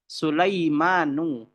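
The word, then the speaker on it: سليمان: Kita membacanya Ibrahimu. Tidak boleh dengan Ibrahimun. Salah. Ibrahimu. Lalu ada Sulaimanu.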